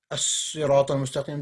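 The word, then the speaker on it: الصراط المستقيم: in the straight way, even though there is a al in front of, you don't pronounce the al. Yeah, that's a as-sirat al-mustaqim. That's a tajweed. That's a tajweed rule. If it says alif lam and a sad, you're not going to say al-sirat, you will say as-sirat.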